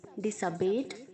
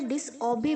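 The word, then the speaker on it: disobey: Okay, dismiss, dismissed, dismissed, नकार देना या खारिज करना, डिसमिसिस, डिसमिसिंग, डिसअबे, डिसअबेड, डिसअबेड, आज्ञा का उल्लंघन करना, डिसअबेज, डिसअबेइंग, बहुत सारे बच्चे इसे डिसऑबे बोलते हैं, गलत प्रोनाउंस है, डिसऑबे नहीं, डिसअबे। ओके, डिसअबे, डिसअबेड, डिसअबेड, डिसअबेस, डिसअबेइंग।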